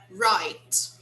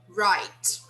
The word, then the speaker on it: right: We say wrong, wrong, right, right. We don't pronounce the G and the H. They are silent, okay?